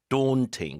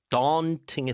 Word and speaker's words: daunting: daunting, 그 영국 발음이고 네. 미국 발음은 이제 daunting에 더 가까울 겁니다.